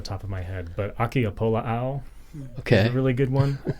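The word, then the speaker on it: ʻAkiapōlāʻau: But Akiapola'au is a really good one, and another they're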